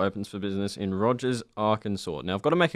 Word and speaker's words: Arkansas: pronounced differently that makes no sense I always pronounce it our concerns that's wrong it's Arkansas I thought it was my first sort on